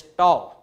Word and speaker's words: tau: The pronunciation is tau, spelling is T-A-U.